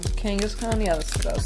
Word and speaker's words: Kangaskhan: How do you pronounce it? Kangaskhan? Kangaskhan, yeah, that's what I was saying.